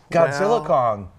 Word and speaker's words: Godzilla x Kong: The studio finally sent out a press release saying the X is silent. Oh. So it's Godzilla Kong.